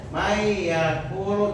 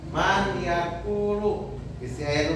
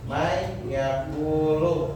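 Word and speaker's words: مَنْ يَقُولُ: Jadi dibacanya may yaqulu. Jangan man yaakulu. man yaakulu tapi may yaquulu dan min nikmatin ya.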